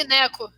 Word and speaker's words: Sinek: Mas Sinek. tá ótimo. É isso aí. Sineco, boneco.